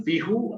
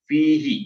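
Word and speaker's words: فيه: bacanya kasrah atau jer Jadi bukan fihu atau fiha tapi fihi ya karena sebelum eh domir Hi ini didahului oleh EE huruf bijarin v ya V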